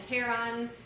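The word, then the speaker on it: pteron: So lepidos is scale and teron the p is silent is wing.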